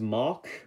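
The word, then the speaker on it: Mach: If you're an English speaker, you would say his name as Mock, but I do believe the gun says Maha, which Maha is actually just really fun to pronounce for some reason.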